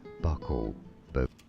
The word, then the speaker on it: buccal: In English, it's said as buckle, How to pronounce Buccal.